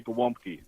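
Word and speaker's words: gołąbki: The L has a slash through the middle.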